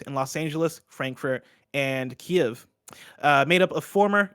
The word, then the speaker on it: Kiev: has three teams in los angeles frankfurt and kiev uh made up of former ea uesoft and crytek developers i definitely mispronounced is a key of yes yeah kiev yeah you got it okay